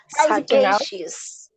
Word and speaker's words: sagacious: Sagacious. Right. Sagacious. Thank you very much. Sagacious. So do you know why I said if you like sardine and geisha?